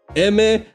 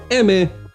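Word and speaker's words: Aimer: now my number five Emmy eimer however you want to pronounce it but it's French so it's that man like m in Spanish Emmy I did not watch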